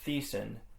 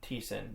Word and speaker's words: Thiessen: then his last name, I had pronounced it as Thiessen, but it turns out it's actually Thiessen, the H is silent.